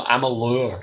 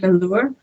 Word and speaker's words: Amalur: of Amer yeah Amer Amalur I think it's pronounced mure oh I I I'm